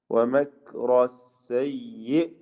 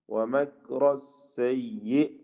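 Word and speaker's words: وَمَكْرَ السَّيِّئِ: വമക്റ സയ്യി, വമക്റ സയ്യി. സയ്യി എന്നുള്ള ഹംസ ശബ്ദചലനം കൂടുതൽ വരാതെ ഷിദ്ദത്തോടുകൂടി ഹംസയിൽ വഖഫ് ചെയ്യാം. വമക്റ സയ്യി, വമക്റ. ഈ പദം പ്രത്യേകം ശ്രദ്ധിക്കുക. മീമ് കാഫ് എല്ലാം തർക്കീഖിന്റെ അക്ഷരങ്ങളാണ്. എന്നാൽ റാഇന് തഫ്ഖീമാണ്, ശേഷം സീന് തർക്കീഖാണ്.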